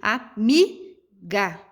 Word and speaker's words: amiga: Aqui, amiga, né? Automaticamente nós sabemos que o mi é a sílaba tônica mais forte.